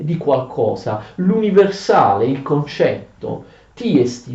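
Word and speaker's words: τί ἐστι: Tiesti, ve lo scrivo anche in greco. Questa è la pronuncia corretta.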